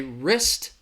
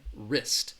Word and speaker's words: wrist: this a little confused there is a silent w risk wrist all right next one